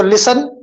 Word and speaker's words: listen: तो listen, गौर से सुनना. T is silent, S का sound आएगा.